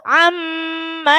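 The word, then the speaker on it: عَمَّ: Contoh amma yatasaalun. Jadi enggak perlu amma, enggak usah ditekan lagi, langsung mengalir ke dengung.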